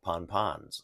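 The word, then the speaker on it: pan-pan: give out warnings called Pon pons you know or it's spelled p-a-n Dash p-a-n pan ponpon uh those are warnings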